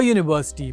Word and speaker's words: university: For example, we say a university because although the word begins with a vowel, it has a consonant sound Y.